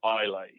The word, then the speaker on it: Islay: so there's one little island of scotland called islay i-s-l-a-y it's pronounced isla and the this is